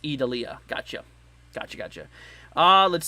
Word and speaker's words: Idalia: how they vent there um let's see it's pronounced edalia gotcha gotcha gotcha uh let's see here also